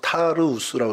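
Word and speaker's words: Tarsus: 예, 다음 사진 보여주시면 이 다소가 오늘날에 이렇게 발음합니다. 타르우스라고 이렇게 발음을 하는데 저 A가 그래요.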